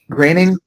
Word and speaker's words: Groening: Is it Matt Groening? It's Groening. Groening? Okay, there we go.